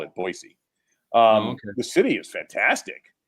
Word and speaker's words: Boise: is just the city of of Boise it's pronounced not Boise but boisey is Boise yeah that trust me oh it's a nice town there no I say by trust me you got to call it boisey um the city is fantastic it's like it's